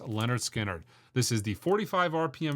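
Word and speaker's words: Lynyrd Skynyrd: Another unbelievable record, a carryover from the last top 100 imprint analog records you should own list, is Leonard Skinnard's pronounced Leonard Skinnard.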